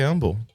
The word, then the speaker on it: humble: I just try to stay humble. That's the other. And he knows it. And he knows it fucks with me. Humble. He says humble. He doesn't pronounce the H in humble. It's an implied H.